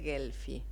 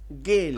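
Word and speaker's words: Ghelfi: Pero se dice Gelfi. Gelfi. Como si hubiera una U.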